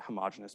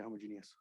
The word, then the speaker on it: homogeneous: I guess in other disciplines, you pronounce that homogeneous, but mathematicians for some reason say homogeneous. I don't know why. Like heterogeneous when we say heterogeneous.